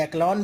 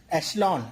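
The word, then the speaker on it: echelon: तो अगर इसे हम पढ़ना चाहेंगे तो एक्लॉन भी पढ़ सकते हैं, लेकिन यहाँ पे जो सी एच लिखा हुआ है इसे हम का नहीं बल्कि शा पढ़ेंगे। तो क्या हो जाएगा ये वर्ड, एशलॉन।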